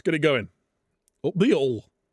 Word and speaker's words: Hull: Up the Hull. You're not allowed to pronounce the H in Hull.